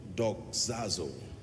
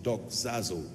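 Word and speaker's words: δοξάζω: teaching tonight on a subject that I title do zazo I want to teach you how the Saints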